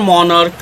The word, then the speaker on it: monarch: While pronunciation of CH is like K, just as is added at the end. For example, singular monarch will become monarchs, just as at the end.